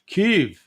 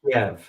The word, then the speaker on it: Kiev: you know they call you hear a lot of American commentators keev ke no it's Kev it's Kev yeah ke well that's the Russian pronunciation and uh what's what's